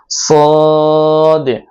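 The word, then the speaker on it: صاد: তারপরে হরফ হলো সদ। সদটা উচ্চারণ করতে হবে জিহ্বার আগা নিচের দাঁতের আগার সাথে লাগিয়ে তারপরে সদ উচ্চারণ করতে হবে সদ সদ সদ সদ সদ সদ।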